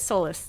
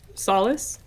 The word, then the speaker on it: solace: Sol Sol Sol Sol it soulless that's not how it's pronounced solace solace thank you yeah she's